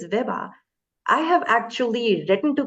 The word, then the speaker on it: Vibha: again I'll be like it's Viva it's Viva I have actually written